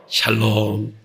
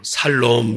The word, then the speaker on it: 샬롬: 샬롬. 발음을 잘해야 돼요. 살롬 그러면 어떤 분은 표현이 잘하셔야 돼요. 여호와 샬롬.